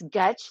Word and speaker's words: Gottsch: It's Gottsch. Think of Dutch and put a G.